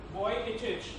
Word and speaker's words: Vujicic: Nick Vujicic, actually that's what Wikipedia told me how to pronounce his surname.